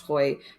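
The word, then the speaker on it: Hoeye: Hoy is spelt weirdly, but I think it's pronounced Hoy, who wrote a book called Time Waits for No Mouse.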